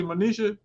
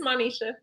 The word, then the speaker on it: Monisha: Am I saying it correctly, Monisha? it's Manisha.